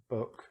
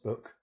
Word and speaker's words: book: So even though these two words are look very similar, the double O is very different. Here it's short. Foot, ut. Like here, book, ut.